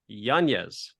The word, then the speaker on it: Yanez: introduce our very special guest uh author Jonathan janeez I say it right yes that's correct good